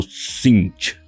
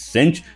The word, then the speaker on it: Tzeentch: la transformación El Dios del caos conocido como sinch Y sí esa es la correcta pronunciación no es sench no es sench no es sinch así se